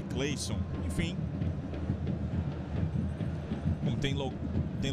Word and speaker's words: Cleisson: pelo cleisson pelo cleisson é porque o nome dele é cleison se a gente fosse levar ao pé da letra mas aí é pronúncia é cleison enfim não tem lo